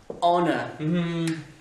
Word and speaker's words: honor: Honor. Ton H, tu ne le prononces pas.